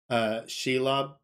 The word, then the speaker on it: Shelob: Shelob, that's how you pronounce it correctly.